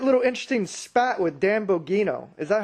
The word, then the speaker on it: Bongino: So, you had that little interesting spat with Dan Bongino. Is that how you pronounce it? Dan Bongino, yeah. Dan Bongino.